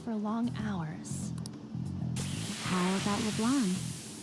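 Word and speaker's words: Leblanc: long hours all about leblan you guys really don't pronounce the C the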